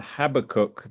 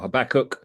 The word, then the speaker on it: Habakkuk: Well, welcome everybody for the uh the books of Naam, Zephaniah, and Habacook this evening or Habachok depending on how you want to pronounce it.